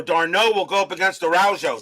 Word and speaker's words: Araujo: Okay, Araujo.